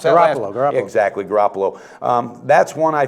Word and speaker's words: Garoppolo: How do you pronounce that? Garoppolo.